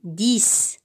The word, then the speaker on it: dix: Alors, je vois la lettre X, mais j'entends S. Alors, on dit 10.